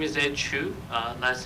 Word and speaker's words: Chu: Hello, my name is Ed Chu. Last name is spelled C-H-U.